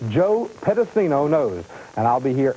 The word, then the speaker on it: Pedicino: And since this is my first time here on Worldwide Wrestling, I'm going to pronounce it for everybody. It's Joe Pedicino Knows.